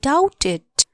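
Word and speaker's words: doubt: शंका छ भन आई डाउटेड डी ओ यू बी टी डाउट बी को उच्चारण हुन साइलेंट हु्छ यो लेटर डी ओ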